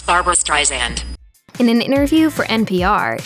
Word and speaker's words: Streisand: In an interview for NPR, she explained how this is a common mistake and that her last name is supposed to be pronounced with a soft S like in sand.